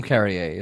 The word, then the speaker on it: Carrier: like sorry, it's kind of like William Carrier. It's carrier, like mail carrier, but a drink carrier, but it's Carrier.